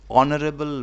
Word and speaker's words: honorable: Brutus is dash honorable man. Though consonant is given but উচ্চারণটা কিন্তু ভাওয়েলের মতো, সেই জন্য এটা হবে an honorable man.